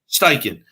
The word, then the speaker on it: Steichen: How do you pronounce his name? Steichen? Steichen, yeah. Steichen.